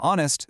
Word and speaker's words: honest: Now, honest starts with a consonant letter, sure, but the H is completely silent, leaving us with an O vowel sound.